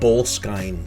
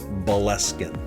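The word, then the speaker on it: Boleskine: businesses here somebody was asking me about bull skying street bowl sky and i'm like what where is bull sky uh this is bellescan boleskin um okay this is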